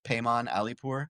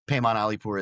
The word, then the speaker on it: Paimon Alipour: So, my name Payman Alipur, which is spelled P A I M O N, and then last name A L I P O U R. So, that's Payman Alipur is my like handle on all social media.